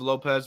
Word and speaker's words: Lopes: Lopes or Lopez uh he spells his name with an asset I think it's pronounced Lopez my bad um but I said Lopes every time I look at it because it's at the end um but um here